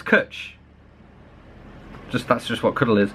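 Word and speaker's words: cwtch: a cuddle i can't can't believe i said cooch that's how it spelled the pronunciation of kutch yeah it's kutch that's just what cuddle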